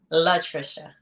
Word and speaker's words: Latricia: correctly uh pronounce it for him one time pronounce it for him just once just once love Trisha ah okay okay yeah we're in the house